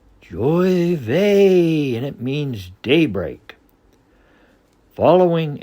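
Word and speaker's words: J'ouvert: nearby Geor Chester Massachusetts the actual name of the festivities is a French Creole word pronounced Joy V and it means Daybreak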